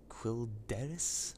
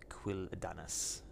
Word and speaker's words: Quel'Danas: There's a few alterations too, purely being the Merciless Gladiator set, which are available from the Isle of Quel'Danas, I think is how it's pronounced, up in the north of Eastern Kingdoms.